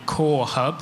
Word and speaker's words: CO2RE: So in the UK, I lead what's called the Core Hub. That's CO2RE, so the 2 is silent.